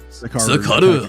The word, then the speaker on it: Sakaru: How do you say it? Sakaru, right? Sakaru. I've got to just throw my Japanese voice into it.